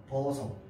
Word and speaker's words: 벗어: 그런데 모자를 벗다. 벗어는 어떻게 하는데? 벗어. 얘는 지어고 얘는 벗어야.